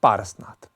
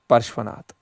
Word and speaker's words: पार्श्वनाथ: King अश्वसेना जो था, ही वॉज the father of पारसनाथ, ठीक है, या परशुनाथ, फादर ऑफ, देखो प्रोनाउंसिएशन मेरी थोड़ी है क्योंकि ये बहुत टफ हिंदी वर्ड्स है, दैट इज पार्श्वनाथ, पार्श्वनाथ।